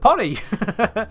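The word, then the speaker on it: Pohnny: about it that's that's supposed to be pronounced Pony isn't it because that's p o h NN y so it's like Johnny but with a P pony that's a that's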